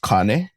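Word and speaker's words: kāne: Hawaii and you see two signs, one saying cane and one saying waheen, just know that they're very important words. Okay. So the first one it would actually be pronounced Kane.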